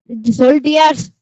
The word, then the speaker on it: soldiers: Soldiers. सोल्जर्स नहीं बेटा, D silent रहते हैं।